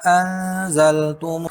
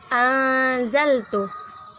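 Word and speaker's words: أنزلت: Wa aminu bima anzaltum Anzaltu. Nun sukun bertemu dengan huruf Z. Hukum bacaannya yaitu ikhfa. Cara membacanya dengan samar-samar ditahan 2 harokat.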